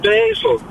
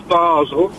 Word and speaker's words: Basel: M she still said she still said basil sort it out hang on the frenches bar the German is Basel what on Earth is basil right okay this is